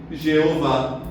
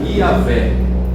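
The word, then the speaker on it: Yahweh: É por isso que até hoje muita gente chama Deus de Jeová. Mas os estudiosos dizem que provavelmente a maioria unanimidade a pronúncia era Yahvé.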